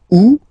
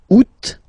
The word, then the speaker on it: août: Août, first option. Août, second option.